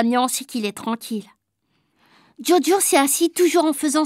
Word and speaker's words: Djodjo: l'appellera joujou non moi dit joachim il faut prononcer diodio tétouan diot hakim haddi maixent et la maîtresse